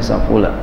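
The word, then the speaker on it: سَفُلَ: Ya, ngaji sama guru dulu begitu, bacanya safula. Ya kalau ada barisnya safala ya dirubah aja gitu ya.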